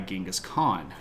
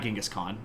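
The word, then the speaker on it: Genghis Khan: meet with the guy gingas Khan not gask Khan uh his grandson KublaCon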